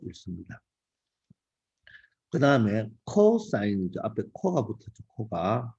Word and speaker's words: cos: 때는 사인이라고 읽습니다 그다음에 코사인 이죠 앞에 코가 붙었죠 코가 코가 붙었어요 그죠 코인은 자 앞에 세 글자만 따서 cos고 적고 읽을 때 코사인 아고 읽 자 그다음에 탄젠트라인 있는데